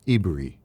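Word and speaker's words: עברי: It is said that Abraham was called a Hebrew and Hebrew it is pronounced ibri the pronunciation of it.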